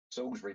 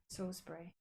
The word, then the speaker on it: Salisbury: Salisbury Plain. It's Salisbury. Oh, yeah. It's spelled Salisbury, okay? Yeah, it's, but it is Salisbury.